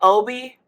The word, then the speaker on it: Obie: dawned on me that Obie is just pronunciation of O-B, Off-Broadway.